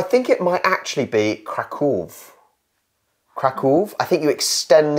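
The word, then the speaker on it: Kraków: is another debate so I think the English way of pronouncing it is Krakow however I would say krakov but actually krakov has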